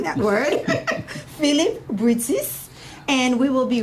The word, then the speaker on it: Brutus: Oh, brew this grain. Brew this grain. Brutus.